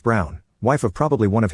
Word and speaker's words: Braun: She said why not, and I reminded her of the historical figure, Eva Braun, pronounced Brown, wife of probably one